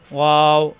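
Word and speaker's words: و: ওয়াও, দুই ঠোঁট থেকে উচ্চারণ, দুই ঠোঁট একত্র হবে না।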